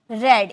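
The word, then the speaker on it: read: आई हैड रेड। इसे रेड में pronunciation करेंगे। क्योंकि रीड फर्स्ट फॉर्म है। सेकंड और थर्ड फॉर्म रेड हम बोलते हैं।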